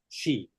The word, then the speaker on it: Xi: Xi, spelled with an X. No, S-H-E.